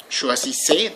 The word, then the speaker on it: choisissez: With vous, choisissez, don't pronounce the final Z, that's never pronounced.